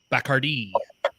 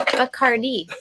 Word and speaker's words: Bacardi: So Why does he pronounce it Bacardi? Bacardi was how you originally pronounced that gentleman's name that started distilling rum.